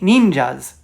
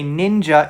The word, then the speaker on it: ninja: finished they're like paint ninjas one day there's a blank wall the next a fully painted mural i know people say ninja it's really ninja that's just how it's pronounced in japanese alright let's move on